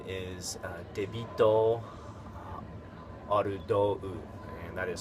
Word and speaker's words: Arudou: And there's another guy whose name is Debito Arudou, and that is spelled like David, which is the katakana version is Debito, Debito. Arudou is Ardou. Ardou.